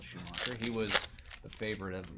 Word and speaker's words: Schumacher: He's he was Schoeacher. I just totally skipped a entire syllable of his name. Michael Schumacher.